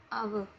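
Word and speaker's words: hour: एच ओ यू आर, आपको पीछे बताया था अभी, इसमें एच साइलेंट रहते से क्या लिखते हैं आ, आव, तो इसमें क्या आ गया एन।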